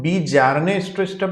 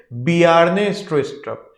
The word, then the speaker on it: Bjarne Stroustrup: तो यहाँ पर ये जो बी जारने स्ट्रोस्ट्रप है इसे हम बी जारने स्ट्रोस्ट्रप नहीं पढ़ेंगे, इसे हम पढ़ेंगे बियार्ने स्ट्रोस्ट्रप। ये जे यहाँ पर साइलेंट है साथियों।